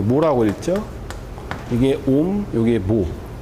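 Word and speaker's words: mho: 이게 ohm, 이게 모. 요게 이렇게 읽으면은 옴, 이렇게 읽으면은 모. 그래서 뭐라고 있는 거 거꾸로.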